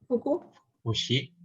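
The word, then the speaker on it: 副詞: Bacanya apa nih? Fukushi.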